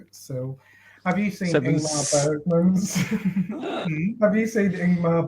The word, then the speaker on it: Ingmar: Ingmar Bergman. See, I said it right. Yeah. Not Ingrid Bergman, like it says on Cheers.